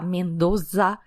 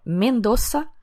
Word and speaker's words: Mendoza: ar-condicionado de rerez albara escreve com z mas pronuncia como S porque em espanhol não tem o som de z Então para de falar Mendoza Garzon Catena Zapata é mendoça garçon e Catena Zapata